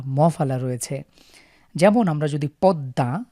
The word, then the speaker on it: পদ্মা: যেমন আমরা যদি পদ্মা, আমরা জানি দর নিচে মফালা থাকার কারণে পদ্মাকে আমরা দুইবার উচ্চারণ করি, দ দ্বিত্ব হয়।